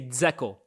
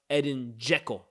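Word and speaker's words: Edin Džeko: And by the way, I always used to say Dzeko. Bosnians, don't ask me how I know them. They rated my TikTok comments one day. It's pronounced Edin Dzeko.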